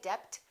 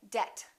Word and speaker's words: debt: climb we say climb debt don't say Dept say debt subtle and doubt another common